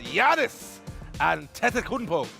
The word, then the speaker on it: Giannis Antetokounmpo: But when we return, we'll be talking about Giannis Antetokounmpo.